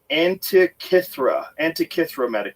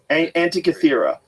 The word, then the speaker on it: Antikythera: Was the Antikythera mechanism.